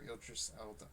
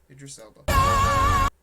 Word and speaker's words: Idris Elba: The music might not be, but I don't know how they got Elba and or Idris Elba. How do you say his name? Idris Elba.